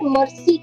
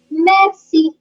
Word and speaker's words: merci: It's not mercy like in English. Mercy means please have mercy on me. This is more like merci.